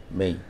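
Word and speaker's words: May: অবশ্যই মে হবে না উচ্চারণটা যেহেতু শেষে এ আছে এবং ওয়াই আছে ওয়াই টা ই নিচ্ছে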